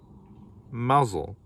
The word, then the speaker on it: Mousehole: day they say it in the cornish way mazel but you may say it as you choose